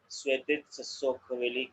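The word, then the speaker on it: Svetitskhoveli: Svetitsa Sokoveli Cathedral. Irakli, can you correct me? What is the exact name? It was perfect pronounced.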